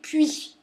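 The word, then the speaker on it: puys: ces associations qu'on appelle les puits ça s'écrit pu u y s pas comme un puit où on tire de l'eau d'accord hein bon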